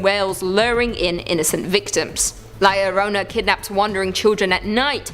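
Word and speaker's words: La Llorona: claws in number two Larona hailing from Hispanic folklore Liona which I'm pronouncing correctly now after you guys yelled at me in a previous video is also known as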